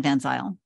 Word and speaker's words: Van Zile: I did, and as I like to say in public, it rhymes with style. My name is Van Zile.